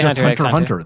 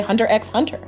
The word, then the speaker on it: Hunter x Hunter: We always say hunter hunter. The x is silent.